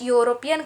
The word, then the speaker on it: European: Germany is dash European country. Here E is a vowel, but when you pronounce the word European, it sounds U, right?